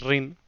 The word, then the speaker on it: Rin: mismo porque hasta ahora yo siempre pronunciaba Ren o... Sí, como así, ¿no? Solía pronunciar Ren o cosas así, o sea, como lo leía más hispanizado que otra cosa.